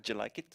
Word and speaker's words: Jellikit: It's actually pronounced Jellikit.